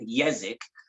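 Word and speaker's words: Jezek: guy named kenny yazic his last name is spelled with the other different pronunciation of the j so it's j e z e k yazak and uh he had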